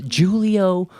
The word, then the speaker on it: Julie-O: This is Julio by Mark Summer. It's spelled Julie-O, and it was written by Mark,